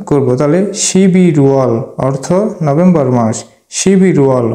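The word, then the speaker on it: 십일월: রিউলটি young এর স্থানে গিয়ে তার মূল উচ্চারণে উচ্চারণ করব তাহলে শিবি রুয়াল অর্থ নভেম্বর মাস সিবি রুয়াল অর্থ নভেম্বর মাস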